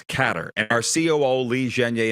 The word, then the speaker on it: Qatar: of the bag now it's not Qatar it's catter and our CEO Li zhenge informed me of that he's been there when did you realize that it's pronounced catter and are we going